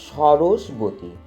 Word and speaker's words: সরস্বতী: সরস্বতী কথার আসল উচ্চারণ হলো সরস্বতী।